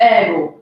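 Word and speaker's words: ergo: इसको अक्सर लोग प्रोनाउंस कर देते हैं एर्गो. इट्स एर्गो.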